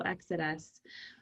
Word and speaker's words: Exitus: absolutely so i am the ceo of exodus it's spelled e-i-x-i-t-u-s so exodus um it is actually latin for the ending